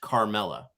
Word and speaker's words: Carmella: So I say caramel, but Carmella is a name and it's pronounced Carmella.